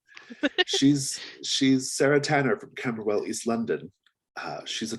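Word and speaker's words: Camberwell: she's from east london rob catch me on my pronunciation kember well they're right yep perfect she's she's sarah tanner from camerawell east london uh she's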